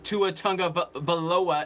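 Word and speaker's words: Tua Tagovailoa: is when Brady retires I will be watching to a tongue of Aloha is how you say his name he's the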